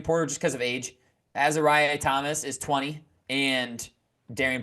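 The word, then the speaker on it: Azareye'h: And it's Azariah. I said it wrong. It's Azariah Thomas.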